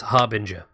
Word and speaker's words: Harbinger: bring her yes the the r is definitely before the be its harbinger as in you are the